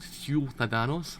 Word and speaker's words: ciudadanos: You have to pronounce it ciudadanos.